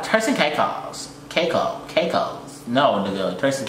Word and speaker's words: Caicos: By the way, it's pronounced Turks and Caicos.